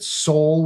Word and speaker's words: Sol: I'm an astronomy nerd, and I've called it Sol with a long O, like Ol, Sol, yeah.